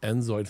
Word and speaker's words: inZOI: There's no D on InZoi? Yeah. Oh, InZoi. If I played it, haven't I InZoi'd it? But you might want to say it correctly, you know. Oh, because then they might think I'm stupid. Just, yeah. Yes. No, not right, they're like, hey, guy, it's InZoi, not InZoid.